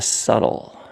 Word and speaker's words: subtle: the simple and the subtle and of course when you say the word subtle you have to say it like that like subtle it's not subtle it's subtle the simple and the